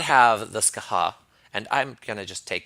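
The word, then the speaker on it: Scáthach: troll was fantastic we did not have the ska ha and I'm gonna just take this opportunity to apologize for all the times that Simon and I have said it's gothic I recently discovered it's pronounced ska ha I didn't know that French pronunciation man it's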